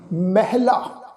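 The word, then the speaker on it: ਮਹਲਾ: अगे शब्द है जी महला, इनू महला इस ढंग नाल उच्चारण नहीं करना। इस शब्द का पाठ उच्चारण करांगे महला।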